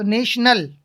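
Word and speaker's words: national: ये आई ओ एन, तो इसका उच्चारण पूरा क्या हो गया, श, तो नेशनल, ओके।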